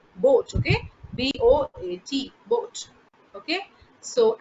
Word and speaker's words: Boot: does boat okay bwt not pronounced as boot is written like this is pronounced as boat okay b-o-a-t boat okay